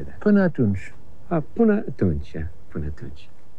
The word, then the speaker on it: Până atunci: Până atunci.